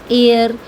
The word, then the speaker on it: heir: कभी कभी कुछ वर्ड्स ऐसे होते हैं जिसमें एच से स्टार्टिंग होती है, लेकिन वो एच क्या होता है? म्यूट होता है, वहाँ पर साइलेंट होता है। जैसे कि आर, ऑनर, एयर। यहाँ पर आप देख सकते हैं कि एच की कोई भी साउंड नहीं आ रही है, तो यानी कि वो